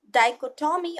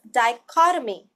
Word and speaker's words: dichotomy: the word is dichotomy the correct pronunciation is not dichotomy or anything like that it is dichotomy remember the Ottoman will go together just like anatomy look at the phonetic